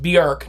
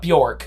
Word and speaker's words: Björk: And yes, it's pronounced Björk, not Bjork.